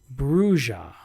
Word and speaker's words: Brujah: The key says it's pronounced Brujah.